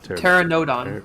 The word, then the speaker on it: Pteranodon: think it's pterodon the PE silent pterodon pterodon I think like pterodactyl like ter Pteranodon Pteranodon teron Pteranodon so in the